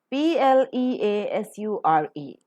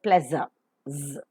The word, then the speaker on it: pleasure: tend to mispronounce this word as the pla p-l-e-a-s-u-r-e the pronunciation of it is pleasure respirator and pronounce azure pleasure but most of the non-native speakers tend to pronounce it as Pleasants it's not as it is make it palette